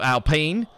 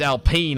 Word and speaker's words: Alpine: renault is changing to alpene which for when i first heard about it i thought it was al alpine but uh it's alpine apparently is it a correct pronunciation and uh it'll be